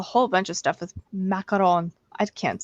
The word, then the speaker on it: macaron: out February 28 it's macarons macaron heaven and I'm not saying macaroon because a macaroon is the coconut version and it's spelled differently this is the French macaron the macaron cookies and